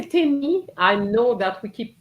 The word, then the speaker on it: tennis: So tennis. So we're going to keep tennis. Most of the students said tennis last year. Okay? Tennis. So you need to pronounce the S.